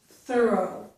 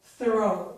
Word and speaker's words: thorough: Though and thorough. Only this vowel sound is the same as that one. and you can see it here, O, thorough, O, O. The first vowel sound is thorough, thorough. So the first vowel sound is different, but the second vowel